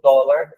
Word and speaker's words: dólar: Porque se não tivesse o acento, a leitura em língua portuguesa seria dólar, né? Então, dólar fica a pronúncia correta para a língua portuguesa.